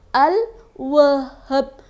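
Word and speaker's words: الوهاب: Al-Wahhab terdiri dari huruf alif, lam, wawu, ha, alif lagi, kemudian ba. Dibacanya Al-Wahhab.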